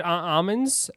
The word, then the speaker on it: almonds: the L some and in some places they don't pronounce the L um so it's interesting